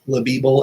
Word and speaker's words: LLBL: name is Logan linquist I go by llbl or it's pronounced leble everywhere um it it's my initials um don't don't ask